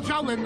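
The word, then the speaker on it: Xiaolin: Even flying dragons say, why'd you spell Shaolin that way? You can scratch your head all day, but it's spelled like Zion. Isn't any other way.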